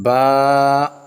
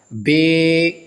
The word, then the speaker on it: با: سے مراد ہے مثلا با، تا، ثا، یہ عربی لہجہ ہے، اس انداز سے قرآن پاک کو، پورے مدنی قاعدے کو بھی اس انداز سے پڑھا جائے گا۔ بے، تے، سے، ہے، یہ اردو تلفظ ہے، یہ اردو طریقہ کار